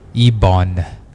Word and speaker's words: ibon: Ibon. E os dentes fecham, né? Ibon. A língua toca a gengiva. Ibon. Isso, ibon. Isso. Porque a letra N é a última da palavra.